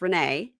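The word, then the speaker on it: Rayne: meet her that well her name is spelled rain but it's Renee right and she's believes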